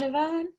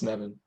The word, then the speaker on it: Nevin: Good job, Navan. Sorry, can you pronounce one more time your name? I think I just mispronounced it. It's Nevin. Nevin, I knew it. So like Evan, Nevin.